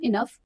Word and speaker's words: enough: We are old enough to look after ourselves, ma, I said. The word though is pronounced to rhyme with the word low. The word enough is pronounced to rhyme with the word puff.